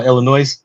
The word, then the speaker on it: Illinois: it's like you know people who put the S on the end of Illinois oh Illinois yeah yeah you gota